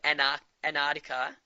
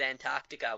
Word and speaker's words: Antarctica: Yeah, first time you said it, you said Antarctica, which is the American way. They don't pronounce the first T, and then you said Antarctica, which is the Australian way.